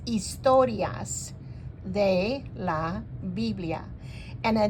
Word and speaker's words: historias: Biblia para ninos now in Spanish the H is not pronounced so it's istorias De La Biblia and